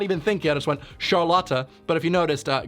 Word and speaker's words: Charlotte: characters whose name is spelled charlotte but it's pronounced charlata i got sharlata on the brain okay sure